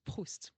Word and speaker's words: Proust: So in French, it's Proust.